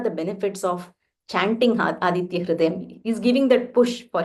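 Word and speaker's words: हृदयम्: Not Hru, not Hrudayam, Hrudayam. Hrudayam, Punyam, Sarva Shatru.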